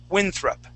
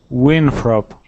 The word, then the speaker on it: Winthrop: last name okay so we're gonna focus on that th sound of john winthrop okay so let's practice that word winthrop winthrop winfrop winthrop there you go